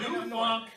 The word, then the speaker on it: Knufunk: You know the word K-N-O-W? Yeah. It's like the K is silent.